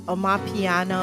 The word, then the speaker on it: Amapiano: It's called Omopiano Mix, Omopiano. But the actual genre name is spelled Amapiono. Sounds like oh no, piano.